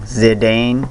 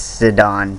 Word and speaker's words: Zidane: exactly like how i accidentally kept saying zidane not zidane it's sedan sorry guys i rate this at 10.